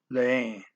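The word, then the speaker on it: lêem: We lemos, and they leem. Okay, that EH and the M, the circle means you don't actually say the M, just nasal. Leem.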